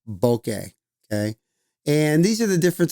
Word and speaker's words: bokeh: Some people say bokeh, but it's technically pronounced bokeh.